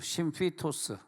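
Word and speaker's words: σύμφυτος: 연합하다는 단어를 찾아보니까 심 심피토스 심피토스 이게 이게 이게 예 파이가 아니라 피이기 때문에 f 발음 나야 되거든요.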